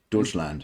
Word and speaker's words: Deutschland: channel Yep this one was oh gosh Dutch Deutschland is that how you say that that's how you pronounce that's okay I mean my I am